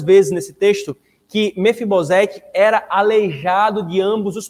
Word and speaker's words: Mefibosete: O único que sobreviveu, irmãos, então, fora Mefibosete, ou Mefibosete, né? Na hebraica, essa é a pronúncia, né? Mas no português fica Mefibosete.